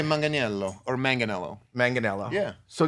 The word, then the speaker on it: Manganiello: Manganello.